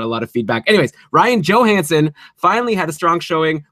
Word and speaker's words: Ryan Johansen: good there right and Ryan Johansson oh sorry actually we were corrected in our face book with Ryan Johansen we're taking extra steps on this podcast - you know pronounce the names correctly so we really appreciate